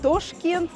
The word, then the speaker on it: Ташкент: А, и вообще же мы заметили, что Узбекистан, Ташкент, например, произносит...